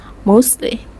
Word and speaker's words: mostly: be pronounced as con mostly becomes mostly let's listen to the